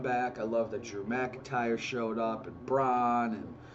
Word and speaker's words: McIntyre: MEC and ER and it's McIntyre but I I say his name like an mackinder and that was a